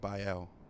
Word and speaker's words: Biel: thought were cool whose I put B ie L and I pronounced it by L by L but I would all